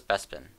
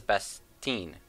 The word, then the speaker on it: Bestine: Actually, someone would be my girlfriend who yelled at me for pronouncing it terribly wrong. And for some reason, I called this Bespin. This is Bestine.